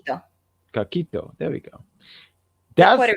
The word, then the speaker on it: coquito: He's probably taking a coquillo. Well, how do you say that? Coquito.